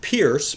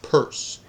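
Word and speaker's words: Peirce: Charles Sanders purse uh if you look at his last name it looks like it should be pronounced Pierce but it's p i r CE and it's pronounced purse Charles Sanders purse you don't need to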